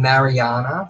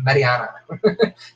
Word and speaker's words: Mariana: they say isn't it name her name Mariana like no it's Marianna you have to sneak correctly marry another see you stiff can say it correctly than everyone else can't